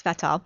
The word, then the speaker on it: Svetol: There's people will pronounce it different ways, but it's Svetol.